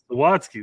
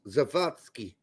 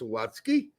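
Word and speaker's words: Zawadzki: Zawatski. Thank you. I'm not sure why I put the wrong emphasis on the wrong sals. In German, he would be pronounced Zavatski.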